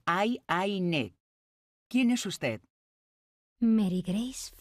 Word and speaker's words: Ayn: Se pronuncia Aine. Es una pronunciación larga. Aine.